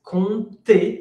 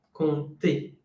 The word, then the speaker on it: compter: Es compter avec un P qui ne se prononce pas. Compter.